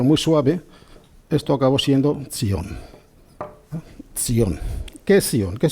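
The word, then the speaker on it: ציון: Y esto se puede transliterar de esta manera, Sion, pero con el tiempo, Sion, esta Y se pronuncia como una Y pero muy suave, esto acabó siendo Sion.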